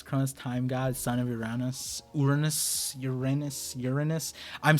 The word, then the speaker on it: Uranus: Uranus is the correct pronunciation.